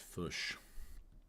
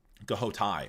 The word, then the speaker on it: Ghoti: It's not pronounced fush. Ghoti.